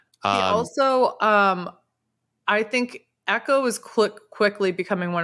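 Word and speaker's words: Eko: in this episode his his name is spelled e-k-o yeah echo i was thinking echo like echo oh yeah yeah echo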